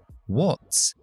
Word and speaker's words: what's: What's, fíjate que se escribe con A, pero el sonido es O.